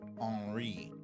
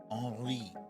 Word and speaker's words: Henri: northeast, and from Hurricane Henri. I believe that's how you pronounce it. It's spelled Henri, Henry in French. Henri, right?